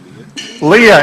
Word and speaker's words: Lila: And Lila. Leah, it's spelled, I know.